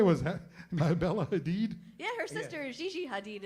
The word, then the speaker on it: Hadid: This beautiful model, her name is Bella Haddad. It's Oh, what? Bella Hadid. Oh, Bella Hadid.